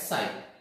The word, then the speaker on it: psi: This is known as PS, here P is silent, is known as sign.